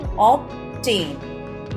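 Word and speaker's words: obtain: थम subtle doubt death लेकिन यहां एक एक्सेप्शन भी है ऑब्टेन यहां भी टी से पहले आ रहा है लेकिन यहां पर हम बी को प्रोनाउंस कर रहे रहे नेक्स्ट लेटर इ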